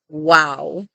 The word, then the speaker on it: Vav: Many people say that this was originally pronounced like a W, and so they call this letter wow.